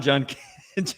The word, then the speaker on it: Judkins: It's Quinshawn Judkins.